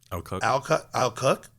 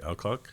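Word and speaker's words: Alcock: And and seeing Supergirl, you know, played by Millie Al Cook. How do you say it? That's El Cook.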